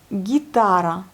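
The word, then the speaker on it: гитара: Ensuite, nous avons l'encadré H et guitare. L'accent sur la deuxième syllabe, guitare, donc c'est la guitare, l'image 2.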